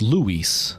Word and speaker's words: Luis: It's Luis. But in English, you emphasize the U a lot more, so it's Luis. So it's a double syllable name, whereas in Spanish, it's a single syllable.